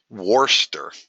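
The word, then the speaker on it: Worcester: Uh oh, Sue says pronounce worster. I'm trying my hardest. Worster. Okay, I got you.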